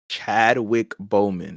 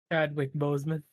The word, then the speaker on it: Chadwick Boseman: And rest in peace, Chad Wick Bowman. Did I say his name right? Chadwick Boseman.